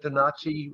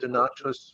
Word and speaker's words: Donati: Some call it Donati, according to the Italian pronunciation. Others call it Donatus, which would be Latin.